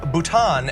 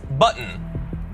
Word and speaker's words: Bhutan: He also pronounced Bhutan as button.